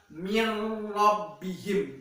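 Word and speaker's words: مِن رَّبِّهِمْ: di mana jikalau secara penulisannya itu ada huruf nun yang bertasdid, tetapi secara kita pengucapannya atau kita mendengarkannya itu yang benar adalah mirrbihim seperti huruf nunnya tidak terbaca begitu anak-anak.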